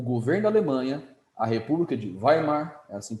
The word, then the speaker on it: Weimar: desemprego e o governo Alemanha a república de Weimar assim pronuncia se mostrou frágil se mostrou incompetente Esse